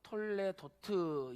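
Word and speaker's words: תולדות: 그 다음에 톨레도트, 이것은 족보라는 뜻이죠. 그러니까 톨레도시라고도 부르고 또 톨레도트 이렇게 발음하기도 해요.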